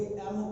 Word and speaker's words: M: में ये क्या है, जब आप एम बोलते हो तो ए प्लस में म बोलते हो। जब आप ए प्लस में म, तो आप फर्स्ट अल्फाबेट कौन सा बोल रहे हो, वोवल का बोल रहे हो। ए प्लस में बन गया एम ए, तो क्या लगेगा, एम लगेगा।